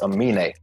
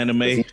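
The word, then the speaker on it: Aminé: It's Amine. I listened to his new album. Anime?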